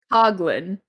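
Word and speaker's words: Coughlin: Coglin. That's how you pronounce it.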